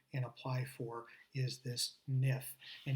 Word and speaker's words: NIF: be using this NIF, or in Portuguese, they'll call it NIF. The I's are pronounced similar to E's here in many cases. So if someone asks you for a NIF, they're actually talking about a NIF.